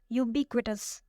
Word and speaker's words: ubiquitous: Our fourth word is ubiquitous. Ubiquitous. It has 4 syllables and the stress is on the second one.